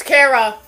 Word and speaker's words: Kara: It's Kara. That's actually how you pronounce it. It's a play on the word character.